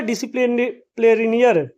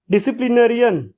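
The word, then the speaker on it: disciplinarian: And fourth one इज डिसिप्लिनरियर। Sorry देखिए नाम pronunciation में थोड़ा प्रॉब्लम हुआ। डिसिप्लिनरियन, जिनको जो शॉप लेवल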